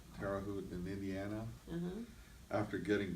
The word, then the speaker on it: Terre Haute: He left a federal penitentiary in Terre Haute, I can't pronounce it. Terre Haute? Terre Haute in Indiana.